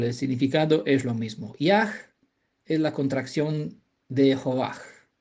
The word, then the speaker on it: Yah: Es el nombre sagrado que aparece en las escrituras que se pronuncia ya, ¿vale? Porque el Hei final, al final de una palabra nunca se vocaliza, sería ya, Yod-Hei, ¿vale?